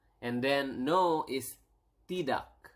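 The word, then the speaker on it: tidak: also yes is y and then no is T do T do T do okay so we have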